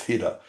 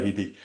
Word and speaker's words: Hidde: Well, that's how you pronounce his name correctly. He's Hida, but I always say Hedy.